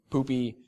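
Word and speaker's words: Pupy: actually asked the dev it's pronounced poopy but it's p-u-p-y I guess is the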